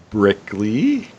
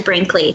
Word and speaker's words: Brickley: Hey, Brickley. Yes. Right? Yeah. Did I say it right? It's actually Brinkley, thanks. Oh, okay. Just kidding, it's not.